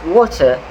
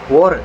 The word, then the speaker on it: water: That is why American English pronounce water as water. In contrast, British English, they retains the voiceless plosive, which is the T sound. They will pronounce the word water as water.